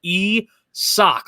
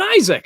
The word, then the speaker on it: Isak: and i was like no it's pronounced like e sock like a sock you wear on your foot and i even texted it to you like i had to do like the phonetics of it that's like it's pronounced esoc not even isaac i mean my god